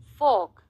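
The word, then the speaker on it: fork: अब यह क्या है फॉक फॉक र साइलेंट है फॉक स्पून और नाइफ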